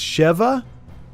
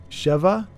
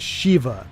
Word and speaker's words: Sheva: So it's Cheva. So s e h v ah. Cheva, not shiva. S h e va.